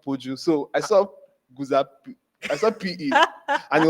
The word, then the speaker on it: Guzape: It's Guzape, but in Yoruba language, when there's a P, it's usually P. Yeah, there's a Popola.